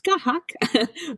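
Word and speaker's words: Scáthach: So, this month I have chosen and this is because we are in such an Aries month that this is skahak and that is skahak pronounced uh s ca with a little accent over it.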